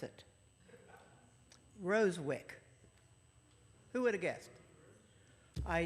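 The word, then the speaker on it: Rozewicz: and i'm going to tell you how to pronounce it rosewick who would have guessed i just thought i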